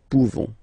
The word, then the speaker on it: pouvons: You don't pronounce the final S, nous pouvons.